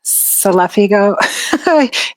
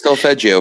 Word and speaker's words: Solfeggio: Even if you go to YouTube, you can find, or you were mentioning, I always say it wrong, Selefigo, healing frequencies. Solfeggio Thank frequencies, you.